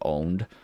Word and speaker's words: pwned: I use the the I think they want it pronounced like owned Pro is it's like